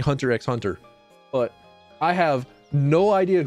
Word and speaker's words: Hunter x Hunter: actually only know that the X in Hunter x Hunter is not to be pronounced and if you pronounce